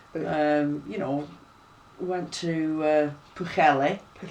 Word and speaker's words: Pwllheli: You know, we went to Pwllheli. That's the proper Welsh pronunciation. Yeah, that's. I know, we tend to call it Pwllheli up here.